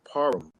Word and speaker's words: Parham: last name properly uh the proper pronouncement is parum parum okay parum all right